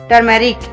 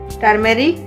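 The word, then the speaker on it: turmeric: आगे है टर्मेरिक। हम क्या बोलते हैं? टर्मेरिक। टर्मेरिक हम बोलते हैं टर्मेरिक, गलत है, सही क्या है? टर्मरिक। टर्मरिक ये सही है।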